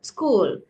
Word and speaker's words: school: My school and சொல்லக்கூடாதம்மா my school s sound நீங்க வந்து என்ன சொல்றது ஒரு பிரிச்சு சொல்றீங்க school no school சேர்த்து சொல்லணும் school and also you have